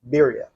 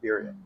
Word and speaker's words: birria: Number 5, back to tacos, and specifically birria. If you love birria, then Versailles has the Birria for you. Birria? Am I saying that right? You really need to learn how to roll your R's.